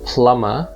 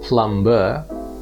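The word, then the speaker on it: plumber: in the first letter but in plummer the b is silent so it's not plum bur but it's plummer meanwhile slumber which means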